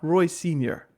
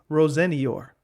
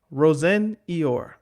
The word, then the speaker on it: Rosenior: And Liam Rosenior, I'm going to be so uh self-conscious about how you pronounce this name. It's not Roy Senior. I know that's how people pronounce it. It's Rosenior. Rosenior.